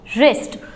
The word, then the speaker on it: wrist: अब नेक्स्ट आ जाता है WRIST, और इसको क्या पढ़ोगे, रिस्ट।